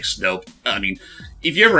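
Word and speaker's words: Snoup: it does sound like, it looks like it's spelled out as Snoop, but actually no, it's like Snope.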